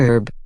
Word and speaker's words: herb: typically uses and before herb since the h in this word is silent for most americans the correct usage in